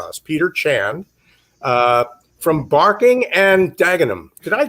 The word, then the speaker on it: Barking and Dagenham: have found for us peter chan uh from barking and dagenham did i pronounce that correctly peter you did but oh